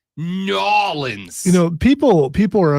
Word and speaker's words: New Orleans: intentionally no no no it's not New Orleans we prefer you say it nans you know people people